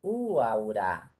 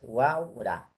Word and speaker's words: Huaura: Porque si yo pongo el acento en esta U sería guaura. Si pongo el acento en la primera U sería uaura. No, la forma es Huaura, la provincia de Huaura,